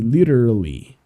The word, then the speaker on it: literally: A pronúncia é meio estranha, então eu aconselho vocês a ir praticando devagarzinho essa palavra, que ela é um trava-línguas, né? Mas você pode falar aqui, literally, ok?